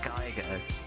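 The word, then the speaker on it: GIGO: It's pronounced Geigo, but it's not as G-I-G-O.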